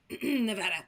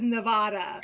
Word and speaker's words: Nevada: Nevada. Oh, I'm saying it wrong. It's their state. They get to decide. We get to claim it. That's right. Even though the rest of America says Nevada.